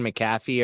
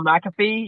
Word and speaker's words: McAfee: like but um I I might say his name wrong. John McCaffy or Oh McAfee.